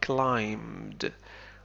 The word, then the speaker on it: climbed: climb حرف ب لا ينطق نقول climbed.